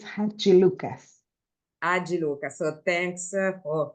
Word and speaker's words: Hadjilucas: name because for me it's really hard to spell it please okay so it's ha Lucas a Lucas so thanks for for this because